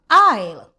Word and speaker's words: aisle: I'll.